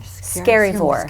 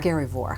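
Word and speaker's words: Skerryvore: Scaryvore. Scaryvore.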